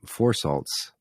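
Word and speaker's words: Phour Salts: It's called Four Salts, and it's spelled with a PH, PHOUR.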